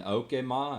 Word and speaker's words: Okemah: And Evan Felker was actually born in Okemah, I think is how they pronounce it, which is freaking right there close too.